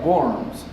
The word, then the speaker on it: Worms: que se llama bms se escribe Worms pero en alemán se se pronuncia Worms y al al la